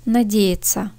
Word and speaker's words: надеяться: Первое слово «надеяться», «надеяться». Ümit etmek, ummak. Надежда, умут kelimesinden oluşuyor. Я harfine vurgu düşüyor. Ortadaki я harfi i gibi okunur.